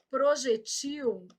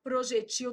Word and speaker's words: projetil: Do mesmo tipo dessa, ó, projétil, projetil, e muda o plural, ó. Projéteis e projetis. Cada uma aí do seu jeito. Então, aqui, ó, projéteis e projetis, projétil, projetil, tô marcando a sílaba tônica, tá?